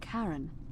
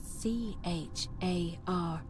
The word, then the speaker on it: Charon: The name you heard wasn't Karen. It was C-H-A-R-O-N, as in Charon.